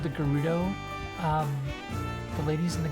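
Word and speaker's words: Gerudo: I always called the gudo um the ladies in the gudo desert I always called them Judo and then I heard it and I was like oh it's a hard G okay and moved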